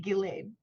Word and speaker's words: Ghislaine: Miss, her name is spelt Ghislaine, which I find a beautiful name, Ghislaine. It's spelt Ghislaine, which is not how you say it, which makes me want to say it like that all the time.